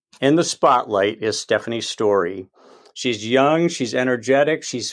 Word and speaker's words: Storey: Unless it's Storey, I don't think so. Stephanie Storey is the way it's pronounced, I do believe, but Stephanie's going to clean everything up I'm about to say.